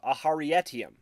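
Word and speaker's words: Aharietiam: brings navani and yasna into a vision of aharietium yes that's how you pronounce it where we see humans fighting alongside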